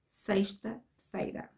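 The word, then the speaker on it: sexta-feira: the week is friday and in portuguese is seiste veda say it after me and that's it i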